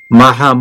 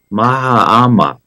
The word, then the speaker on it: Mahama: for inauguration of a new president John drani Maham Maha mahama I'm sorry I mispronounced the name who was having his second